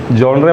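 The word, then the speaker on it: genre: Apocalyptic जॉनरे. जनरे spelling अगर आप लोग पढ़ेंगे तो जनरे ही पढ़ेंगे, GENRA, पर प्रोनाउंस कैसे करना है? जॉनरे. ओके, कुछ लोग बोलते हैं जॉनर.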